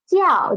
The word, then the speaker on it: 叫: The first new word is 鸡要 jiao. The initial is 鸡. The final is 要 and the tone is fourth tone.